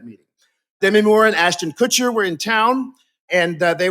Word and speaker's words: Kutcher: sorry and ashton kutcher it's kutcher rhymes with butcher i was like okay